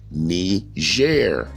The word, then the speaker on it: Niger: Simeon, he was surnamed Nigger, pronounced Niger, which means black skin in Latin.